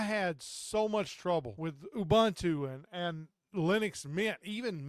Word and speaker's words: Ubuntu: there's a lot of them I use or Ubuntu is how you say it so what ended